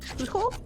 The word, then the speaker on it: Chuchel: I do feel bad about it sometimes because, like, last Tuesday I streamed Chuchel, because apparently that's how you pronounce Chuchel.